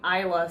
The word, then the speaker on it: Isla: the Realms yeah I'm pretty sure your name is pronounced Isla I don't care it sounds dumb I'm saying Isla I'll